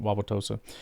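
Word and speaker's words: Wauwatosa: Mebo out of Purdue, three star recruit from Wawaossa East High School in Milwaukee. That's interesting. Played in four games as a freshman. It's how you know I'm in Wisconsin. I can pronounce that. Wawaossa.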